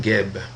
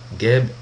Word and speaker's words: Geb: Parce que dans le fond, ici, on dit Geb simplement parce qu'on rajoute un E pour pouvoir prononcer un mot, ou en tout cas un squelette à deux consonnes qui est G et B.